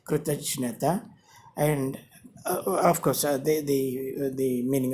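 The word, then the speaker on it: कृतज्ञता: Here, this is spelt with J, letter J. This is pronounced as kritajnata, kritajnata, and of course, the meaning of the word is gratitude.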